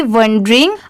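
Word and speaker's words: wandering: तो देखिए दोनों में बस ओ और ए की डिफरेंस है। दोनों में अगर जैसे देखिए ये पढ़ना है तो यहां पर ये डब्ल्यू ए ए की साउंड अ की आएगी वंडरिंग। और यहां पर ओ की साउंड आएगी तो वंडरिंग।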